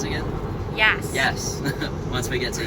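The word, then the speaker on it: Yass: No, how do you pronounce it again? Yas.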